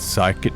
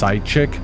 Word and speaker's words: psychic: by the fact that psychic isn't pronounced pyic why throw the letter H in if it's going to be silent and don't get me